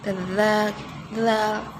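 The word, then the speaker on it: ذال: Dulu sampai nggak ngerti yang katanya kalau zal itu ujung lidahnya digigit dikit, zal.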